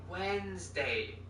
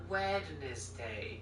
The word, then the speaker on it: Wednesday: it and she said listen how it's pronounced Wednesday not wedes day I ended up just